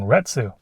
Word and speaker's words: Retsu: And then in Chapter 5, you'll get a subquest involving Retsu, which rhymes with the Japanese word ketsu.